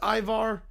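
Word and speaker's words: Ivar's: It's pronounced Ivar.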